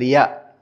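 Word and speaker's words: ياء: Puis nous avons la lettre ya comme le la lettre Y en français, on dit il a ya.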